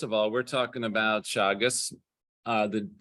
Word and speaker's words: Teagasc: Teagasc.